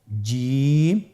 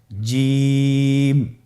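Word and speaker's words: ج: চেষ্টা করুন হয়ে যাবে এর মাখরাজ হলো জিহ্বার মধ্যখান তার বরাবর উপরের তালুর সঙ্গে লাগিয়ে উচ্চারিত হয় আপনারা পিকচারে ছবিতে দেখতে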